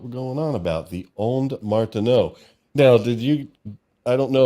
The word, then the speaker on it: Ondes: And the Onde is like, okay, well, you kind of know French, but not really. It's on.